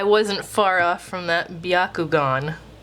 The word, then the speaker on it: Byakugan: far off from that biakugon not Byakugan biakugan that's how you say that one what else couldn't